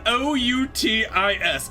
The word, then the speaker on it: Outis: It is spelled O-U-T-I-S. Outis. I believe her name is Utis. Would Utis be better?